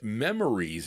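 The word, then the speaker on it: Memoirs: They said memories. It's spelled M E M O I R S. Doesn't look like memories to me, but listen, who am I to argue?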